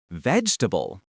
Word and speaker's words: vegetable: Try emphasizing the first syllable and swallowing the rest of the word. Vegetable.